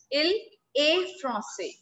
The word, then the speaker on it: il est français: The correct word is, the correct pronunciation is il est français.